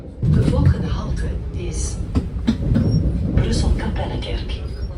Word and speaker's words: Kapellekerk: De volgende halte is Brussel Kapellekerk. Oh, it's pronounced Kapellekerk. I said Kappelkerk. That's wrong.